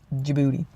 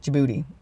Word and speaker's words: Djibouti: and the same with Djibouti you see you can almost hear the D there Djibouti Djibouti okay I know